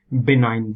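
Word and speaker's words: benign: एंड we also have बिनाइन जी इसमें silent है बिनाइन इ वर्ड यहां पर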